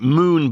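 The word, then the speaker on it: Mohun: But this moon mourn well you pronounce it moon but it's spelled like mo moan mourn moan but it was called moon right this baron.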